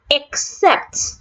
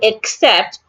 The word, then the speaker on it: except: Except. The first letter E in except also sounds A.